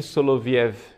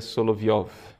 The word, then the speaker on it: Solovyov: fala né de vladimir soloviov a pronúncia é na verdade seria solovyov os três diálogos e